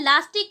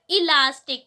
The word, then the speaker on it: elastic: अब भाई वहाँ पर जो प्रोनाउंसिएशन होता है लास्टिक का वो गलत होता है, क्योंकि लास्टिक नाम की कोई भी चीज़ नहीं होती है। वहाँ पर सही प्रोनाउंसिएशन क्या होता है हमारा, इलास्टिक, ठीक है। वहां पर क्या करते हैं लोग ई हटा देते हैं, केवल लास्टिक बोलते हैं, जो कि गलत है।